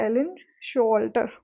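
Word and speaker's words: Showalter: Okay, तो इनका नाम भी क्या है, एलन शोल्टर। इसमें ये डब्ल्यू जो है ये साइलेंट है।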